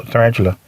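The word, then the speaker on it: Tyrantula: in human condition tarantula but tarantula is spelled with y t y r a n t u l a so tarantula anyways uh mr butler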